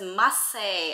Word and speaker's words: Marseille: It's pronounced as Marseille according to Google.